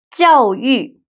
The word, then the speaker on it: 教育: 教育，educate, education.